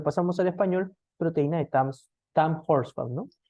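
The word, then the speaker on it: Tamm-Horsfall: Para hablar así, para hablar así, como normalmente lo pronunciamos, TAM Horsfall.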